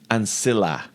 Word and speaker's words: ancilla: So the I and the E, for example, if there was a C before it, you would soften that. So ancilla.